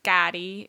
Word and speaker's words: Kari: R-I. Hard R. It's Right. like, it's Spanish pronunciation for white people.